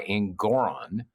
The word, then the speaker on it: Engoron: And on appeal, it'll eventually, whatever, if Trump is found culpable by Engoron, rhymes with moron, doesn't it?